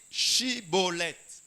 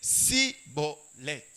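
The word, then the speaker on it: Shibboleth: » Il lui disait, « Alors, eh bien, dis Shibolet. Dis Shibolet. » Et il disait, « Sibolet.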